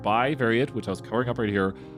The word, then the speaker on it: bivariate: they didn't realize it you're saying it correctly you're right by variate which i was covering